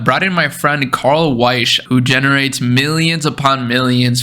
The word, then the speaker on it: Weische: do you say your last name man Carl weish yeah nice Carl wise so welcome I'm really excited to have you